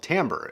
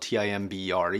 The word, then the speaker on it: timbre: about a term called timbre. It's spelled T-I-M-B-R-E, even though it's pronounced timbre, which is kind of weird.